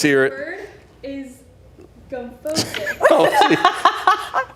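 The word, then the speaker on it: gomphosis: The word is gumphosis. Gophosis?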